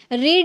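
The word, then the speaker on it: read: पढ़ना second form rate अब यहां पे इसको रेड कर रहे हैं क्यों यही रूल है जब आप फर्स्ट फॉर्म में आप रीड प्रोनाउंस कर सकते हैं बट सेकंड और थर्ड में आपको रेड प्रोनाउंस करना होगा ठीक है रीड रेड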